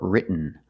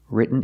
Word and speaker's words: written: So you can say written or written. Written is more common. Just don't say written. It's written.